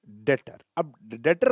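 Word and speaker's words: debtor: कौन बन गया कौन बन गया डेट 20 साइलेंट होता है इसको बढ़ेंगे डाटर कौन होता है दातार वो परसों होता है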